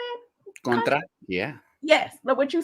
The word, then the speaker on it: Contra: Contra, yeah.